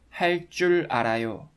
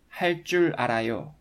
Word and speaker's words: 할 줄 알아요: You remember that 할 줄 알아요 is pronounced with double consonant 쯔 sound according to one of the pronunciation rules that you've just learned.